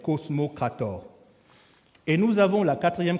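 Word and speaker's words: kosmokrator: a les exou les cosmocrat comme ça se prononce k k o s m o k R a T o R cosmocrator et nous avons la 4è catégorie qui sont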